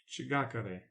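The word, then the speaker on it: Ch'gakare: So it's CH apostrophe GAKARE with an accent on it. Shigakare.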